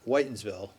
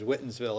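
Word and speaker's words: Whitinsville: Whitensville. The I still hear people mispronounce it as Whittensville if they're not from around here or something.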